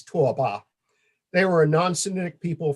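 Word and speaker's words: 拓跋: you prefer, was governed by the Tabgach, pronounced in Chinese Tuoba.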